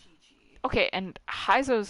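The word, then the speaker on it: Qiqi: Because it's spelled Kiki. And you... But she says it's Chi-Chi.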